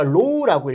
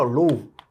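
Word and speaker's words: ρ: 얘가 이제 읽을 때 우리가 low라고 읽고요. low.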